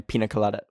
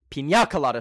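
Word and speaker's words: piña colada: concord grape lemon lime pina colada pina colada sorry I forgot there's an accent on the end um and it's it's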